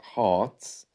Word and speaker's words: heart: there by the way the r is silent heart and that's something which is prevalent in received pronunciation ah ha you can also hear it with words like word or work so when R is